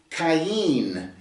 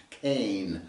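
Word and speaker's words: קין: And she conceived and gave birth to Cain, is the way it's pronounced in the Hebrew. It's a kuf, yod, final noon. Cain.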